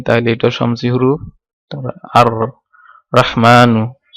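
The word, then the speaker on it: الرحمن: তারপর আর রহমানু, আর রহমানু এখানে লাম উচ্চারিত হয়নি, তাহলে এটাও শামসি হুরুফ।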